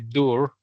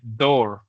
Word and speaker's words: door: La otra, la puerta. La puerta también tiene doble O y no se dice door, sino se dice door.